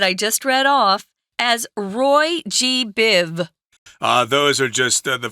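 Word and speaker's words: Roy G. Biv: know what you're doing just say Ro Roy G Biv it's very important not to say this r-o-y-g-b-i-v no right there are other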